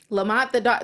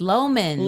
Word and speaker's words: Loman: It's Loman. Loman. Okay. Loman. It's close. It's an L and an O in there. Okay, Loman. I won't forget next time. But I really think that Loman and Harlee are going to connect.